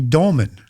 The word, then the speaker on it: dolmen: Portal is also understood as a dolmen. If people aren't familiar with that term, it's spelled D-O-L-M-E-N.